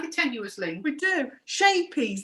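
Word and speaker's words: Scheepjes: tenuous link we do shapies that's it is that's how you say it it's dutch for little boat little boat yeah so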